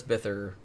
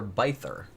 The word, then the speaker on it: Bither: investigators on her case, calls her Bither. Okay. So I'm not really sure. I mean, he knew her, so presumably that's how you pronounce her last name. Okay. It's just weird because it looks like Bither, but who am I to say?